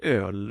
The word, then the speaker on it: öl: Vi beställde kall öl och njöt av solen.